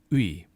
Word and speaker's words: 의: We have the and the e, which we've talked about before, and this is ui. Now, sometimes this ui also people will pronounce it e, but it's safer to be ui.